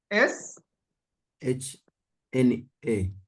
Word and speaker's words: Shna: S H-N-A. S-H-N-N-A. Like that? Yes. Wow. So you pronounce it as Shna?